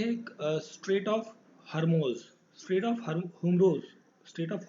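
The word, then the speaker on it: Hormuz: Oman और Iran को connect करने वाला जो चैनल है, that is straight of हुमूर्स, sorry होरमुज, होरमुज, ठीक है। आप हिंदी में कर सकते हैं होमुर्स, ठीक है, होमुर्स इसको प्रोनाउंस करेंगे।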